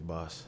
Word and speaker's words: BAS: it yeah yeah so it's pronounced base magazine or boss magazine his boss boss magazine this is Zenaya it's